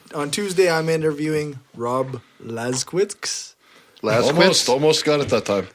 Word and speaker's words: Laskowicz: Yeah. Lasquitz. It ends in WICS. TZ. Oh. W-I what? CZ. Yeah, so it's Quiz. Laskowicz.